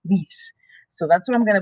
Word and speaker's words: lies: But in the third and the second and third singular, they get changed to the stem change, L-I-E-S, which looks like the word's lies, but it's pronounced lease.